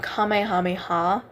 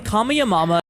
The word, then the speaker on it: Kamehameha: I should say um I've seen people mispronounce saying um Goku's attack entitled Kamehameha um I'll show the clip right here I can ball Mythic in fortnite 10 times stronger so we all know the kamiyamama I'm gonna leave that one